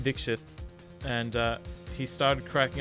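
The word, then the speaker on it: Dixit: seen for it but yeah it's pronounced dikshit and uh he started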